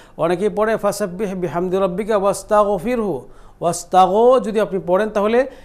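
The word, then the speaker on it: واستغفره: রাটাকে আমরা কী করলাম, বারিক করলাম, চিকন করে উচ্চারণ করলাম, কেন রাসাকিন তার ডাইনের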